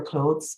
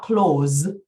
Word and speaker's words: clothes: at all those letters you actually say it as one syllable but it sounds weird cloths it's a very strange sound and it's one you really do have to practice um so you say your clothes are getting tighter not close like close the door but close and you do say the th but it's so quick